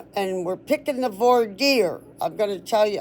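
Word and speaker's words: voir dire: better right okay so I'll quickly read their V deer um so they got V deer the first one and it's spelled uh it's spelled it's spelled v o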